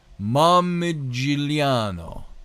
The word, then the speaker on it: Momigliano: classical historian and historiographer Arnaldo I'm going to pronounce his name. I had it down. Momigliano.